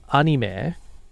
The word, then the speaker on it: anime: So the proper use of the word is anime, because it's animation. However, it's just really, there's a lot of inertia of people pronouncing it wrong, like people saying karaoke.